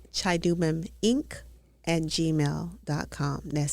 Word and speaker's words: Chidubem: c h i The d u, you pronounce it d o, do.